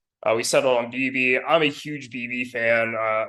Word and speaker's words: Bibee: It's Bibee.